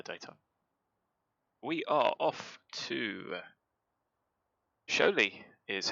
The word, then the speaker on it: Šiauliai: We are off to Šiauliai, is how you say how that's spelt.